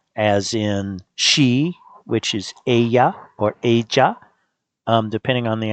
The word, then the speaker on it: ella: In most parts of Spain, LL is pronounced like the English Y in yes. So Ella sounds like ella.